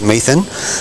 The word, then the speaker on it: Metham: Ken Metham, pronounced Methan, played a few games for Australia, a Taren Point legend.